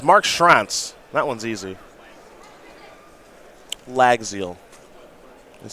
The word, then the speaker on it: Llagziel: last name against mark schrantz that one's easy lagzil that's how we'll pronounce that now round number 10 here in